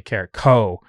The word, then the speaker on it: Carrico: So like I have to tell myself over and over again to say Carrico and not cow.